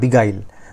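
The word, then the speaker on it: beguile: GUILE বিগাইল ঠিক আছে, বা হ্যাঁ বিগাইল উচ্চারণটা এরকম হবে বিগাইল, ওকে এটা মানে হচ্ছে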